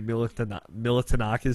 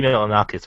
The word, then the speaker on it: Milonakis: It was basically the Andy Militanakis show before that existed. But Annie Militanakis show is actually a little bit funny. No. I know I'm saying that name wrong. Also, I'm Andy Milonakis, but no, it wasn't like that.